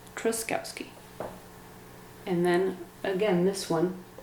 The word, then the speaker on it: Truskowski: then for me i say my last name truskowski and then again this one can you spell it please repeat please can you spell it